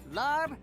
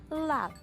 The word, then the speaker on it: larb: Larb. It's actually pronounced lab.